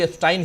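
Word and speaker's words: Epstein: एफस्टाइन कह रहे थे वो ओरिजिनली नाम उच्चारण भी एस्टाइन ही करना चाहिए लेकिनकि अपने यहां एस्टीन एस्टीिन कहा जा रहा है तो मैं भी वही कह रहा हूं तो जेफरी एस्टीन हरदीप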